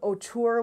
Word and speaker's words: Autour: McGill University right here in Canada it's called otur which is spelled a u t o uur and it's